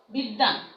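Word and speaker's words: বিদ্বান: আবার বিদ্যান, হ্যাঁ, দয় বয়, বয়ের উচ্চারণ হচ্ছে না, সেই ব্যঞ্জনের দ্বিত্ব উচ্চারণ হচ্ছে।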